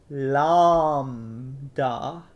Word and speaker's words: Lambda: Lambda, lambda. No, I don't want to have a lamb and say duh. Lambda, lambda, da.